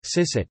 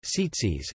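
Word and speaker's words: ציצית: Mizrachi, sisit, place. Tzitzit, Spanish and Mediterranean, i.e., Sephardic, tzitzit, European and Yiddish, i.e., Ashkenazi, tzitzis, Yemenite, i.e., Tamani, tzitzith, Samaritan, tzitzit.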